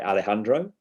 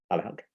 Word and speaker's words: Alejandro: So that's why I know how to say Alejandro. Alejandro. Yeah. Alejandro. The J is pronounced like in Dutch to say like a G, like Alejandro.